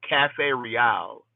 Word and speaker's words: Cafe Riale: There's actually a spot in Connecticut called Cafe Riale. You know, it's spelled Cafe Real with a Colombian accent, but it's in Bristol and they get all of their coffee beans straight from Colombia.